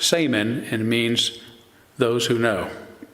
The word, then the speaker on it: saman: The word shaman actually has its roots in the Tungus language of Siberia, where it's pronounced saman and means those who